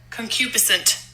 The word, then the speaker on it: concupiscent: yep concupisent I don't like the way he pronounced it but okay hold on we we could find somebody else concupiscent okay that was better leave it let it